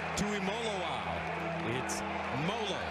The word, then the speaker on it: Tuimoloao: loss guess who JT to him it's mola like Rollo folks that's how they tell us to pronounce it well he's been playing